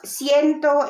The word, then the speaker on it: ciento: Now, if you're gonna include, if there is like 120, it's ciento and then 20.